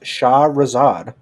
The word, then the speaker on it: Shahrazad: Corey's Crazy Card segment this week is Shahrazad. God, I can't even pronounce the card. come on, Corey, it's your card. Shahrazad. it's just Shahrazad.